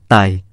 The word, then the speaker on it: ไท: ไท ไม่ต้องมี ย ยักษ์ ส่วนมาก จะออกเสียงว่า ไต คือ เสียง ท ทหาร จะออกเสียงเป็น ต เต่า เช่น ไทดำ ไทเหนือ ไทลื้อ